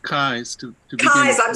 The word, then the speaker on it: Keyes: Sure, it's pronounced Kais to begin Keyes, with.